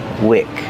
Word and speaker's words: wick: So that's week and this is wick. Different pronunciation. Use the short I sound like this is. This is a wick.